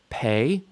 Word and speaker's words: Pe: Pe makes a p sound.